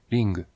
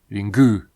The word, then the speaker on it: Ring: Even in Japanese, if you were to pronounce it fairly accented, it would be ring. There is no ringu, it's ring.